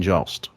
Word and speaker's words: Jost: Michael Che in love with Colin Jost.